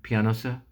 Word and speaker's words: Pianosa: Army Air Squadron is based on the island of, I think it's pronounced Pianosa, like a piano, Pianosa, in the Mediterranean Sea west of Italy.